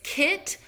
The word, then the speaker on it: Kitsune: They turned to an ancient superstition regarding the Kitsune, magical multi-tailed foxes capable of possession. I'll repeat it again. It's Kitsune. It's spelled Kitsune.